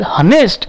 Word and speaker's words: honest: Similarly, some words starts with consonant letter but pronounces vowel sound.